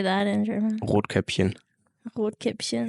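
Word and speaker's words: Rotkäppchen: say that in German Ro caption Ro caption you know like the like this drink in Germany yeah sparkling wine basically and Cinderella and Cinderella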